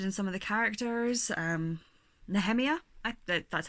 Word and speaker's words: Nehemia: Nehemia, that's how I pronounce her name.